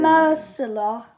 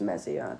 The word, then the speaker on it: Meslier: I reckon Ian Mercer, I think that's how you pronounce his name. I think it's Mezier.